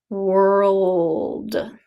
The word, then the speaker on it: world: you kind of have to swallow your tongue in the beginning. Ul, ul, world, world. And that's different from word, where your tongue just stays in the back. Word, world. You have to bring your tongue forward for the L.